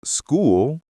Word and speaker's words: school: For instance, CH can sound like ch in chair, but in some words like school, it sounds like k.